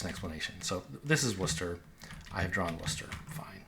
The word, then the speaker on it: Worcester: of these towns, like this looks like Warsister, right? Or something. Um, but it's Worcester.